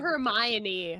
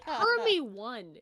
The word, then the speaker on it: Hermione: Hermy one is how I pronounce Hermy one?